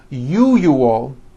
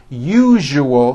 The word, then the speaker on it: usual: are very very common if you are someone that pronounces the word usual as usual I'm telling you you are not being understood let me let me show you how to pronounce the word usual correctly break it up into three syllables u o that second syllable Z the one with the underline needs to be voiced put your hand on